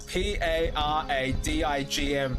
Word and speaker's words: paradigm: the hell yeah it's p a r a d i g m paradigm not paradigm like why do we pronounce d-i-g-m dime but we also spell